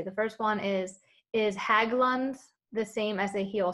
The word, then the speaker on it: Haglund: first one is is haglund the same as a heel spur and i don't know if i pronounced that correctly you did pronounce it yes so so haglan's in